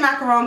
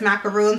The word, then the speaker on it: macaroon: shade melted macaroon macaroon I always say macaron cuz that's how it's spelled but I know full well in my head that it's macaroon so bear with me